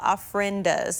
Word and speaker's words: ofrendas: a little bit about the ofrendas. Am I saying that correctly? But is there some behind you there? Yeah, so this is the ofrenda that's right behind me, and you are saying it correctly.